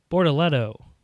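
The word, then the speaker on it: Bortoleto: Rookie Gabriello Bortoletto.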